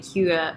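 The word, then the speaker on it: hygge: Jess is saying when she keeps saying H she's saying the word that's spelled h y g wait h y g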